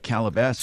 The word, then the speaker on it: Calabasas: setting a fire in Calabasas. I think I'm pronouncing that right, that's near right. Beverly Hills. That's right, Calabasas.